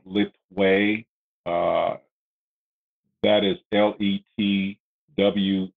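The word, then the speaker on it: Letwei: or a branch of Bando called Fang, which is spelled T-H-A-I-N-G. There is a component called Lit Wei, that is L-E-T-W, it's either W-H-E-I or W-E-I,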